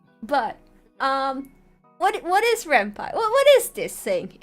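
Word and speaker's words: Ren'Py: is rampy rampai um technically I think the um appropriate pronunciation is rampai because it comes from pyson like the coding language python so technically it's rampai but I'm Spanish and I will call it rampy Uh then we'll be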